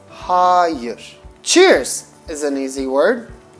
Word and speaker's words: hayır: And no would be higher. It's almost like the superlative of high. High, higher. But there will be more emphasis on the A. So it's HAH-yuhr.